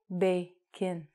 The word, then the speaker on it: bacon: We say bacon. So if I was to write this phonetically, which means how it sounds, I would write bacon.